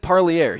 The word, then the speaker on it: Parlier: Now, sometimes coaches get it wrong too, but actually Landon was right there, and he said Parlier. He actually wanted me to roll my R on the later part.